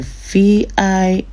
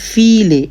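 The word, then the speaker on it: viele: I gave example the last time with file, V-I-L-E, V-I-E-L-E, many. Instead of pronounce V, vile, it's pronounced file, F, file.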